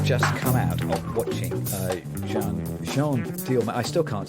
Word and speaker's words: Jeanne Dielman: We have just come out of watching Jeanne Dielman. I still can't say the name properly. Jeanne Dielman. Tell me again. It's Jeanne Dielman.